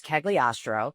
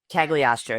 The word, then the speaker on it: Cagliostro: It's Cagliostro, just a lot of vowels. At least Cagliostro? Cagliostro.